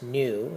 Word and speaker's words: nu: the greek letter new let's pronounce new it looks like a v to represent the linear